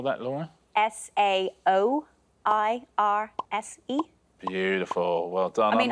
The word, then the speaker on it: Saoirse: Think Irish. Stick in vowels where you don't think there should be vowels.